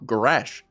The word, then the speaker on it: garage: Garage. Garage. The ga and then raj. Raj. It makes, phonetically, it makes sense.